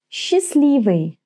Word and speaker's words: Счастливый: Счастливый. Счастливый. Well, this is a weird word, right? I don't pronounce the T consonant, счастливый, and the first 2 letters blend into one sound. S, ch become sh. Счастливый.